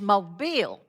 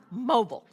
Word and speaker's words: Mobile: It's Mobile, Mr. Morris, not mobile.